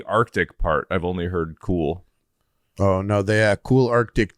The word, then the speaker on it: KUHL: Maybe I'm saying it wrong. KUHL. Oh, yes. How do I say that? I mean, knew no. you would know it, but I knew you would know it. But It's like cool with and the U